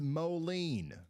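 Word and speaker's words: Moline: It's pronounced Molen.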